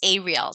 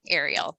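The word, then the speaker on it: areal: we call aerial flooding so that's pronounced a real not aerial like an aerial image just for clarification that's major rainfall over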